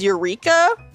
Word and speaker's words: Eureka: So, Cody, the real way to say it is Eureka. Like that's the actual way to pronounce like Eureka is a real word.